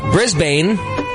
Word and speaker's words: Brisbane: Brisbane is Brisbane.